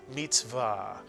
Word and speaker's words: mitzvah: And the accent in Hebrew tends to be on the last syllable of a word, so it's mitzvah.